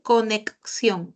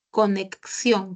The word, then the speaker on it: conexión: palabra en esta palabra el sonido si se han dado cuenta de la x corresponde a doble a doble fonema dice con conexión conexión por eso es